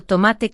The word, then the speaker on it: tomate: Y ya que estamos, repite rápido tomate con acento en ma.